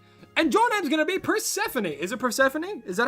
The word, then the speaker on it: Persephone: What about the American pronunciation? American is Persephone, which sounds more natural to me instead of Persephone. I think Persephone sounds better to me.